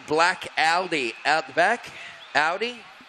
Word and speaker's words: Audi: All right, so if you're the owner of a black Audi out the back, Audi, not Aldi as in the cheap fast food, yeah, it's Audi.